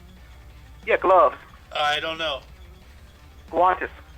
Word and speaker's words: guantes: You know how you pronounce gloves in Spanish? Gloves? Yeah, gloves. I don't know. Guantes. Guantes.